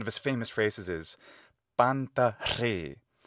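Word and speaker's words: πάντα ῥεῖ: One of his famous phrases is panta re, panta ri in modern Greek pronunciation.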